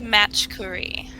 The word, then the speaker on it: Machkouri: make sure I get it right yeah it's match Curry there you go I love it so almost